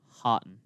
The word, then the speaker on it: Houghton: into if you're the road team houghton houghton hotten no you're not going to start saying every